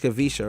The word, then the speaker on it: Kavisha: It's so easier to say Kavish here, but it's Kavisha, right?